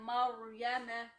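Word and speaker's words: مريم: For example, ra sukoon before it fatha, Maryama, ra heavy, because ra sukoon before it fatha, Maryama.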